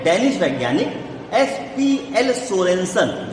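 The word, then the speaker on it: Sørensen: पीएच की खोज किसने की थी, कहते हैं 1909 में डेनिश वैज्ञानिक SPL सोरेनसन, जो SURENSEN, देखिए वो देखिए स्पेलिंग लिखी है सामने, है ना, तो सोरेनसन, तो वो है, वो स्पेलिंग है, वो सोरेनसन है।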